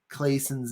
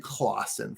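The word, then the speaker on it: Clason: And I have been pronouncing George S. Clayson's name wrong. I've been saying Clausen for some reason.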